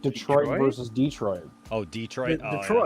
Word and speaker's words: Detroit: Like this is actually it's different pronunciations, right? Detroit versus Detroit.